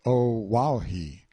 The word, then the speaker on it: O'ahu: him after this island o'ahu pronounced oh wow he the first gate he